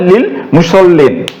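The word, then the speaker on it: لِلْمُصَلِّينَ: হরফের যুক্ত হওয়ার কারণে এই হামজাতুল ওয়াসালটি আর উচ্চারণ হবে না সরাসরি এই লিটা এই লামকে ধরবে তাহলে লিল মুসল্লিন লিল মুসল্লিন তাহলে এখানে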